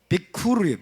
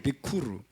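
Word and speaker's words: ביכור: 베코르는 여러분, 이 단어하고 스펠링이 거의 똑같아요. 완전히 똑같아요. 이 단어는 뭘까요? 여기는 베코르, 여기는 비쿠르예요. 비쿠르. 자, 모음만 틀려요.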